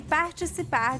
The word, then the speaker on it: participar: e participar de atividades ao ar She said participar. So the C in her accent sounds more like a ch.